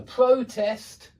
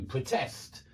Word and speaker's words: protest: The stress changes. It's on the first syllable in 2-syllable nouns, and it's on the second syllable in 2-syllable verbs when we use the same word for the noun and the verb.